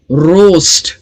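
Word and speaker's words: roast: रोस्ट, यहां पर 5 letters है इस वर्ड में लेकिन साउंड सिर्फ 4 है, रोस्ट, RO, रोस्ट, ओके। ए साइलेंट है, साइलेंट इन द सेंस इसका स्पेलिंग पैटर्न ही आता है, जो स्पेलिंग रूल है वॉवेल्स का, वॉवेल कॉम्बिनेशन का, उस वजह से यहां पर ए जो है इन वर्ड्स में साइलेंट होता है।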